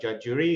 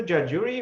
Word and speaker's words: Judge Jury: Yeah, hi, founder for the judge jury. It's pronounced like judge and jury, as in our legal system.